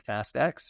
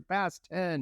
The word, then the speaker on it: Fast X: Is it Fast X or Fast 10? I'm going Fast X. I've been told that's kind of the way to go.